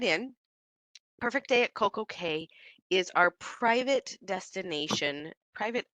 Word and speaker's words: CocoCay: day at CoCo K now you might have noticed that the pronunciation changed and that's because it Rhymes uh perfect day at CoCo Key does not rhyme perfect